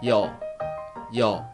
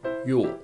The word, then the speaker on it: ㅛ: Its sound is starting from unclear Y sound and finish with O, yo. You have to be careful. Y sound is very quick, and when you continue to pronounce O, don't say O.